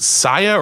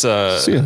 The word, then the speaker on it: Sia: Is it Saya or Sia? Is it Saya? The singer? The singer. It's Sia, right?